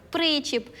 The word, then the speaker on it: причіп: мають потрібно запам'ятати зокрема такі незвичні для нас наголоси де буде наголошення на перший склад наприклад причіп застібка закладка такі слова просто запам'ятовуємо давайте підіб'ємо підсумок так